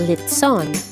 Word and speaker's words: lechon: other dishes lechon or sometimes pronounced as lit son has a colorful history